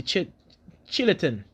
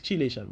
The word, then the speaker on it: chelation: We have the Chilatin, or chelation. If I want to put it like that, basically it's chelation, but the way how Sebi pronounced it was not like that.